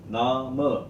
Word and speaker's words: Name: Guten Tag, mein Name, but Name, the ma is being extended into mein Name. That is the function of the e at the end.